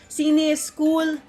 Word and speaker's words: CINEISKOOL: i welcome you to the press launch of cine school is cool that's how you should pronounce it film lab and film festival for